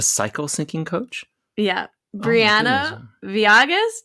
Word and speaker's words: Villegas: Briana Villegas. Did I say it right? Villegas. Thank you.